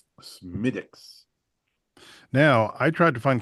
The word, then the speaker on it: Smithwick's: So, in in the interest of uh accuracy on the Drinking with Friends podcast, it's pronounced Smidix. Smidix.